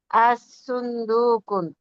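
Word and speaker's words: الصندوق: এখানে আসুন্দুকুন কোন তাকবীরকে বললেন যে সুন্দুকু, কু হবে কু লামের সুন্দুকু, উচ্চারণ হবে না, সদে তাসদিদ হবে।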